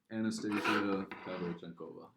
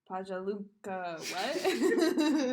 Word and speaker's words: Anastasia Pavlyuchenkova: Anastasia Pavlyuchenkova. Pajaluka, what?